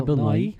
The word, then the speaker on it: Bill Nighy: Bill Bailey Martin Freeman Bill Nye they say you pronounce it yeah Bill Nighy that's how I don't Rory McCann if